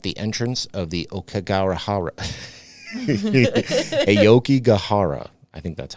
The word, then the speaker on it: Aokigahara: Aokigahara. I think that's how you pronounce it.